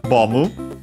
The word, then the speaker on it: ボム: So, bomb in English without a B at the end, bomu in Japanese, and should be accented on the...